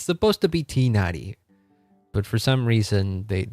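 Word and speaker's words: Tighnari: that the English dub pronounces Tainari's name like that. It's supposed to be Tinari, but for some reason they pronounce it Tainari in the English dub.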